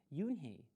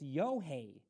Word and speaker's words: Unhei: new here what's your name a girl asked yoon hey said yunhei une the girl asked scrunching up